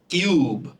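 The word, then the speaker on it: cube: কিন্তু যখন CUB এর পরে ই থাকছে তখন ই এর উচ্চারণটা উজ্জ্ব হবে, কিন্তু ইউ এর উচ্চারণটা তার না নিজের নামে হবে, মানে ইউ এর মতো করে হবে। তাহলে উচ্চারণটা কি হবে? CUB, কিউব।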